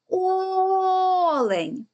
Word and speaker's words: олень: слово має два склади визначаємо наголос гукаємо це слово олень який звук ми протягали найдовше о Тобто це перший склад і він є наголошеним а тепер робимо звуковий